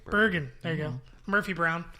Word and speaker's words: Bergen: How do you pronounce it? Bergen. Bergen.